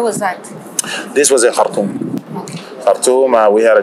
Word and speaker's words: Khartoum: So I'm pronouncing it the Arabic way, Arabic North way. Yes. It's Khartoum.